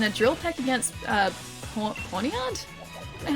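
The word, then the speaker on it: Pawniard: Porn ponyard. Pornyard is how you say it. Ponyard. Ponyard. Pornard. Okay. Cuz it reads to me like pornard.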